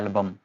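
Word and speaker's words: album: Exception कुछ words में देखी गई है इसकी, जैसे कि एल्बम, इस पे हम एल्बम नहीं बोल रहे हैं, इसमें बोल रहे हैं एल्बम। Algebra, almost, the एल is pronounced, these don't follow the silent L pattern, ये साइलेंट एल पैटर्न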